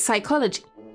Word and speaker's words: psychology: would be psychology because in German you pronounce the P so if you would say p that would be German but in English it's psychology it does not sound the same it's written almost the